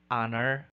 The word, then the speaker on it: honor: phoneme h is silent thus we say air honor honorarium exhibit shepherd item number 45 what